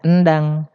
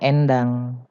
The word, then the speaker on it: Endang: taling ada e pepet kalau laki-laki namanya Endang kalau perempuan namanya Endang tulisannya sama sama-sama e